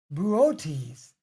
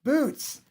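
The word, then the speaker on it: Boötes: to pronounce for example the constellation this is pronounced buotis not boots pop attack you're about to lead us a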